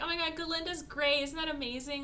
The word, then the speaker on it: Galinda: Her name's, like, Galinda, but the goat can't say Ga. He just says Galinda. So, and they're being microaggressive about it. Anyway, so then she's like, oh my god, Galinda's great.